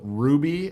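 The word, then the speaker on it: RWBY: Miss's name it's called it's weird it's called ruby apparently is how you pronounce it but the how it's spelled is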